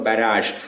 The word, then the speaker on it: barrage: See, this word is pronounced as a j sound. G is pronounced as a j sound. So barrage.